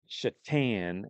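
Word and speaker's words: Šatan: And then I remember back when I lived in Buffalo all those years, there was a player named Marislav Chhatan, but it's spelled Satan. Satan.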